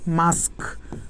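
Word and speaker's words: mask: উচ্চারণটা তো মাস্ক না, দেখো তো উচ্চারণটা হচ্ছে মাস্ক, উচ্চারণটা হচ্ছে মাস্ক, মানে কেটা তো শেষে আসে, উচ্চারণটা হচ্ছে কি মাস্ক।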